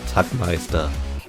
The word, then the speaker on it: Tagmeister: Or as would be pronounced the German way, Tagmeister 11.